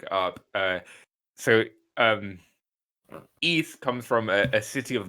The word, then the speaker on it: Ys: wise because um i've what how do you pronounce this east yeah this this consonant word yeah yeah and